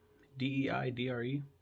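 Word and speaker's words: Deirdre: Augustine's mom danger how do you say Deidre d-e-i-d-r-e one second I'm just I just don't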